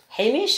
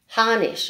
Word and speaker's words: Harnish: And it's Cheryl Lee Hamish, I think you pronounce her name. Harnish, I'm sorry, who has designed them.